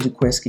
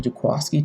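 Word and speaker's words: Jaquiski: his name is pronounced i always said jaquisky it was actually jaquasky tart you know got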